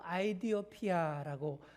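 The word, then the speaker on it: 에티오피아: 자, 여기서 에디오피아 사람이라고 했는데 정확한 히브리어 발음으로 아이디오피아라고 합니다.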